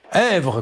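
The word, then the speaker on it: Esvres: Comment ça se prononce? Hèvre-sur-Indre. Èvre, comme Èvre lave-toi et danse avec la vie.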